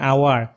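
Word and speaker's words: hour: they will এরাইভ উইথইনঅান আওয়ার তারা এক ঘন্টার মধ্যে পৌঁছে যাবে উইদিন মানে মধ্যে এরাইভ মানে পৌঁছানো দে মানে তারা এখানে এন বসেছে এর কারণ হচ্ছে আওয়ার এর উচ্চারণটা ভাওয়েলের মত এই কারণে এখানে এন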